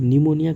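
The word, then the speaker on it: pneumonia: ठीक है, इसका पी, निमोनिया का पी जो है ना साइलेंट है, पढ़ते नहीं है, इसीलिए पी को उल्टा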